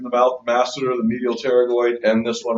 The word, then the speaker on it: pterygoid: Pterygoid is spelled with a P. It is not pronounced pterygoid. It is just pronounced pterygoid. The P is silent.